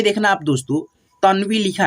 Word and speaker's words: तन्वी: जैसे यहाँ पे देखना आप दोस्तों तन्वी लिखा है, ठीक है, अगर आप ऐसे पढ़ते हो तनवी, तनवी तो ऐसे गलत हो जाएगा आपका उच्चारण, ठीक है, ऐसे करिएगा उच्चारण तन्वी, ठीक है।